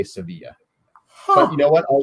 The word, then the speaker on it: Sevilla: to clarify is it is it pronounced sevilla i always thought it was seville well i think either works but i believe there they say sevilla but you know what